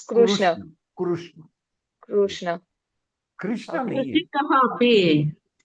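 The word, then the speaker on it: कृष्ण: thing uh uh Kurrishna if I say Krishna it becomes a slang or it is a right pronunciation in Hindi language in any other language in your local language yes it is right but not in Sanskrut it has to be Krishna that's the reason in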